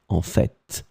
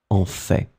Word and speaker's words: en fait: So in this situation, for this second one, some persons, and I am among them, pronounce the final T, en fait, en fait. But then you can also hear some persons who don't pronounce it en fait.